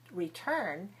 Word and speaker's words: return: If we have a word that has two syllables like return, we know re and turn. The stress is on the second syllable, so note, return, return.